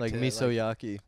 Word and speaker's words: Misoyaki: So how do you say it? Mia. Mizyaki. Mizyaki. Mizyaki. It's hard. Misoyaki. Misoyaki.